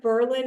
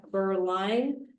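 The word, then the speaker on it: Beaurline: the first batch, um agenda item six, Jeff Berlin is actually Jeff Burline, and that is spelled B E A U R L I N E.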